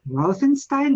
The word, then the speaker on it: Routhenstein: actually very happy to welcome registered dietician rothenstein do I pronounce it right yes you did thank you